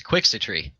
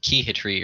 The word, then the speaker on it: Quixitry: It was Quixitry, but people kept pronouncing it like Keyhitry or something.